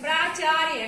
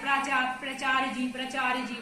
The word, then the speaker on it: प्राचार्य: प्राचार्य। कई बच्चे इसका उच्चारण नहीं कर पाते, प्राचार्य जी बोलते। क्या बोलना? प्राचार्य। तो प्राचार्य में छोटा प्रा होता है उपसर्ग, आचार्य होता है शब्द।